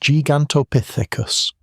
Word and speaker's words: Gigantopithecus: Gigantopithecus blacki, pronounced Gigantopithecus.